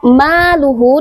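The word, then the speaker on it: مَالُهُ: Nah, setelahnya Huruf maluhu di situ ada huruf mim yang berbaris fathah, setelahnya ada alif. Maka hukum bacaannya adalah mad tabi'i, dibacanya panjang 2 harokat.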